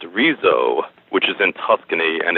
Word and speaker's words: Arezzo: of I believe it is pronounced arezzo which is in Tuscany